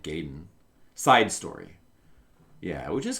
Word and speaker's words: Gaiden: Well, yeah, because we couldn't even pronounce Gaiden correctly. Everybody called it Gaiden.